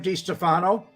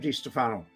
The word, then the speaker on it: DeStefano: Now, I noticed Joe calls him Sam DeStefano, and Frank called him Sam DeStefano, and I called him Sam DeStefano. But other people say DeStefano.